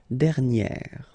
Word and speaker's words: dernière: Okay, and you will get dernière.